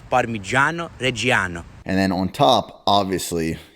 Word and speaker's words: Parmigiano Reggiano: to pronounce that nick the correct way to pronounce that is parmigiano reggiano and then on top